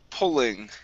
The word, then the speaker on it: pulling: Next up is the word pulling. Pulling. Yeah, so here, right here. Here you said pulling. Okay, instead of an oo sound, it's an ul sound.